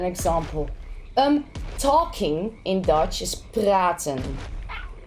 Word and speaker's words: praten: Talking in Dutch is praten. So you can instantly hear that R, how hard we pronounce it, right?